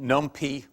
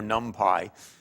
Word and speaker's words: NumPy: Either pronounced NumPy or NumPy. You can choose your pronunciation as you prefer.